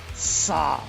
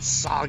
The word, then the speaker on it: Sahg: There's a silent H in there, and I would forget if the H was the second letter or the last letter. Who knows what Sahg actually means?